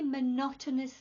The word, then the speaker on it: monotonous: It was a very monotonous meeting this morning. Monotonous. Monotonous. 4 syllables. Monotonous.